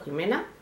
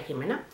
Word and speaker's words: Ximena: que es el de ximena peña creo que se pronuncia así o jimena aquí sería jimena pero bueno se escribe con x es una chica tuber